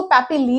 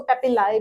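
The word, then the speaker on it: papillae: ठीक है, तो बहुत लोग इसको पैपिली भी बोलते हैं और बहुत लोग इसको पैपिलाई भी बोलते हैं, तो आप दोनों ही प्रोनाउंस कर सकते हैं।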